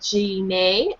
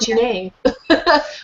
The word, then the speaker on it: Gine: No idea, but if you were to try and pronounce it in Japanese, it might be Jine. Ooh, okay. I like that. Jine, let's call it Jine. With the G like get.